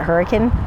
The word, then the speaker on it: Hurricane: you get to Zion it's spelled like hurricane but I'm pretty sure they pronounced it hurricane it's also the closest